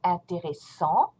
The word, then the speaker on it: intéressant: This adjective ends with a T in the masculine form and it becomes intéressant. Don't pronounce the T, you stop at en, and make the sound en, intéressant.